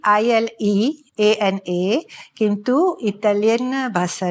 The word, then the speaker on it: Ileana: केमती लिखा जाए छी ILEANA किंतु इटालियन भाषा रे ILE is pronounced as Ile.